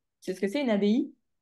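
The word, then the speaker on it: abbaye: Donc abaye, ça se prononce comme ça, pas abaï.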